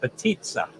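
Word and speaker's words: Potica: is what I was raised calling it okay petia is the proper name um p a t i c i a but it's pronounced Patia like the T sort of like the tamborita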